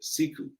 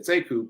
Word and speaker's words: Sekou: he pronounces it differently he pronounces it siku siku but it's spelled the same so when i came along i said seku people asked me how